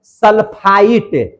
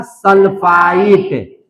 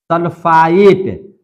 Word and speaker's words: सल्फाइट: तो इसका नाम है सल्फाइट। ट का उच्चारण आएगा। क्या नाम है इसका? सल्फाइट। सल्फाइड। समझ में आ रही है बात?